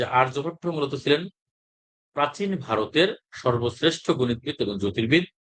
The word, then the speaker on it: আর্যভট্ট: আর্যভট্ট বাংলায়, আর ইংরেজিতেও আমরা এটা আর্যভট্ট উচ্চারণ করব। তবে এখানে যদি আমরা মানে এমনি এখানে এই যে বানান করে যদি আমরা উচ্চারণ করি, সেখানে কিন্তু আহ এই উচ্চারণটা কিন্তু এরকম আসে যে আরিয়া ভাট্টা, আরিয়া ভাট্টা এরকম আসে। ঠিক আছে, কিন্তু আমাদের সঠিক উচ্চারণটা হচ্ছে কি আর্যভট্ট।